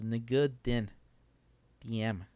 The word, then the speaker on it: Ngo Dinh Diem: I think in that language the first name is the last name, so it's Ngo Dinh Diem and his brother Ngo Dinh Nhi.